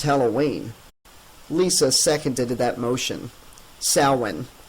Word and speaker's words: Samhain: Samhain. That's pronounced like Sow-in.